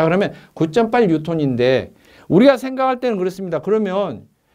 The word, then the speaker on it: 뉴턴: 뉴턴이 기본 단위는 아닙니다. 글자가 한 글자로 되어 있다 해도 기본 단위는 아닙니다. 자, 그러면 9.8 뉴턴인데 우리가 생각할 때는 그렇습니다.